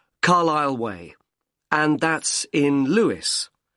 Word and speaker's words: Carlisle: 45 Carlile Way. Could you spell Carlilele for me? Sorry. It's C A R L I S L E. You don't pronounce the S. Carile way.